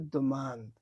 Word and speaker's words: demande: তো এই পুরো উচ্চারণটাকে ফ্রেঞ্চে বলে দোমান্দ।